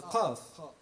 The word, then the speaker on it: qaf: And if we return to the insistence not to drop the pronunciation of the qaf, to pronounce it properly and not to relegate it to the glottal stop, we have a very literal example.